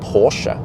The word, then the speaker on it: Porsche: start with porsche then many americans yeah americans they would call it porsche yeah that's a nice porsche you have right there well but it's actually called porsche and also you know